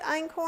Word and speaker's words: einkorn: Ein corn is that how you say it einkorn oh I'm corn flour I love icorn flour